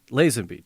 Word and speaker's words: Lazenby: Lazenby.